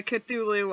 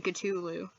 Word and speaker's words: Cthulhu: we'll see what the cthulhu of this movie is like i'm saying his name wrong i should be saying katulu why is one of